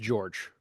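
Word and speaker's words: Đorđe: non English characters, but it's sort of spelled D O R D E, but apparently it's pronounced George.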